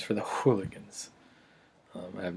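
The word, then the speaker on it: Whooliganz: with the alchemist um I pronounce it hooligans because there's a w it's pronounced it's it spelled WH o olig a and z the duo went by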